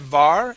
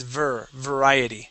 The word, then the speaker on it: variety: Yeah, so instead of var, it is variety.